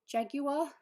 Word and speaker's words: jaguar: No, it's jaguar. You pronounce the U in it.